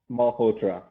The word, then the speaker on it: Malhotra: say his last name sud welcome so s mahotra that's that's my c yeah yeah Mr sud multra is my guest this week sud welcome thank